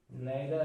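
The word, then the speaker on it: neither: ठीक है, तो इसमें कौन कौन सकते हैं, जैसे मान लो ईच है, आइदर है, नेदर है, नीदर होता है वैसे, नीदर और नाइदर दोनों इसके प्रोनाउंसिएशन होते हैं, नीदर, नीदर भी होता है इसको बोलते हैं।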